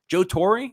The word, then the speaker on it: Joe Torre: not the way it's coming out my mouth joe torrey i think that's the way it's pronounced joe torre in his 2009 book the